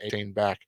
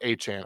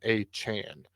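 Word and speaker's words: Achane: players and we'll get Devin a back at some point or aan I apologize that is the correct pronunciation aan next up we have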